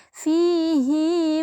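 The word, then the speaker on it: فيه: cara membacanyaahulqtiakludi muhana jadi tidak dibaca f tapi dibaca panjang menjadi fihi muhana seperti itu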